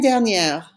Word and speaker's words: dernière: Notice that semaine is feminine, so now we have to pronounce that R at the end. Say it after me. It's la semaine dernière.